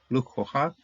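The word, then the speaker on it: לֻקֳחָה: Ki me ish, lukoha zot. Lukoha. This is a nice, don't see this a whole lot. See, it's a Hatayef comments here, which is pronounced as an O.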